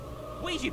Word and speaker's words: Ouija: data analyst expert to give us the proper pronunciation of this word Ouiji Ouija boards ladies and gentlemen these boards were named